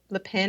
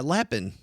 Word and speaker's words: Lapin: I remember reading a book by Nicole Lein. I don't know, Leen. I'm not sure how you pronounce her. Oh, yeah. Yeah. Yeah. Lapin.